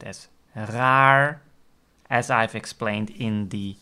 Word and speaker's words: raar: typical Dutch word is very challenging for someone with pronouncing the R Sound That's the word raar r a a raar Is Strange and you can also pronounced at raar as I've Explain in